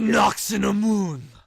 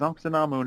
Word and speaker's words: Ankhsenamun: Brendan Fraser version is they kind of changed her name a little. Instead of Ankh-Namun. It's a Nox-in-a-Moon. A Nox-in-a-Moon. I'm like, why did you add like 5 more syllables to that already? They had to have the mummy dude say it in that really dramatic way. A Nox-in-a-Moon. Because Ankhsenamun is already fine.